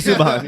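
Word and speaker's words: Subban: said it wrong I said it right PK suban yeah he has a brother named Malcolm suban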